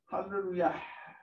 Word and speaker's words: hallelujah: Pronounce the H sound. Well, okay. The way, if you want, just again in the form of teaching, I'm going to say, as if we're davening, it should be hallelujah.